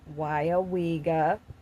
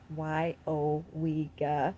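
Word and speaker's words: Weyauwega: That's how you pronounce it, by the way. Weyawega. Weyawega, okay?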